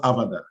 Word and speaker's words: Avadar: So essentially, Avadar means, it's pronounced Avadar, and it's, like you rightly said, audiovisual AFP detection and reporting.